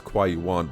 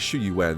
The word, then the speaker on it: Qiuyuan: Sorry, I keep pronouncing his name as Quaywan, but is Shuen. That's how you pronounce his name.